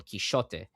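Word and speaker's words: Quixote: Did you know that actually the the the the true um pronunciation of the the the novel is Don Kishote because the X is the old Catalonian.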